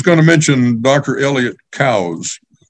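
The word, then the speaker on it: Coues: to mention Dr Elliott cows not Coos or cooies as most of the redneck deer hunters call them the man pronounced his name Cows as in wait till the cows come home there's an article verifying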